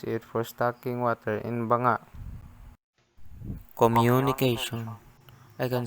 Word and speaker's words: Banga: Banga, pronounced ba-nga, meaning pot, is an earthen container originated by the northern Cordillera region of the Philippines.